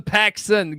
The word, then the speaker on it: Paxson: I would name my son Paxson. Get rid of the T. It's like John Paxson, the old Chicago Bull, burying threes.